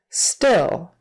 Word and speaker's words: still: still just like until still has a short I in the middle still still don't let it get too tight make sure it's relaxed so it doesn't sound like steel we don't want steel